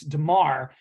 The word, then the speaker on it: Damar: I actually just looked at it to make sure I said it right because he almost sounds it's Damar, and I always want to say Duron Harmon, who used to play for the Pats.